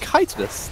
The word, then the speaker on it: chitinous: I am being informed that it's apparently pronounced chitinous.